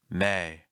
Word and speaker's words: May: May. May. Notice that at the end of the word, my mouth stays open.